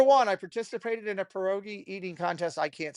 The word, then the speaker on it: pierogi: In segment one, I participated in a pierogi eating contest, also known as pierogi, but pierogi is how it's pronounced in Polish.